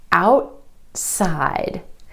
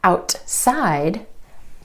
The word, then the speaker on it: outside: For example, the word outside. Instead of outside, outside. The tongue stays up for the t and goes straight into the s sound.